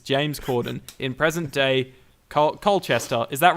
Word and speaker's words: Colchester: friend Craig Owens James Corden in present day Colchester is that right Vinnie is that how you say it Colchester it is Colchester cool who has a new here that's all